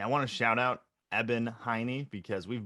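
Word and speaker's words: Eben: name too i mean it's e b e n is his first name pronounced evan so you know shout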